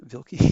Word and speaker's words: Vilky: Wilkie makes her second key. Vilky, excuse me.